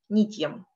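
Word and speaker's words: नित्यम्: Как вы заметили, в правильном произношении для того, чтобы утяжелить слог, делается как бы легкая пауза и делается акцент не на предыдущую гласную, например, здесь не, мы не делаем нитьем, мы не тянем ее, мы делаем акцент на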